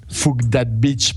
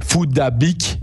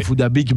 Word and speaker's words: Phuc Dat Bich: si il s'appelle réellement F that Beach puisque c'est comme ça que nous on le prononce à l'européenne il faut savoir que étant donné ses origines ça devrait se prononcer foodabic et foodabic bah en soit ça